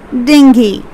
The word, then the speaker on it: dengue: this this is a very dangerous disease it's pronounced as dinghy dingy it's not angu it's dengue the next one discretion discretion okay it's a